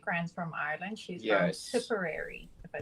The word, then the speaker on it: Tipperary: She's from Tipperary, if I said that right. You did say it right. Yes, you did say Tipperary.